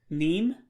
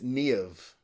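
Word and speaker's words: Niamh: Neem? No. No. Is it Nev? No. No. Okay. But if you put it together, it's Niev. So the Niev. MH Okay. turns to a V, but it's Niev.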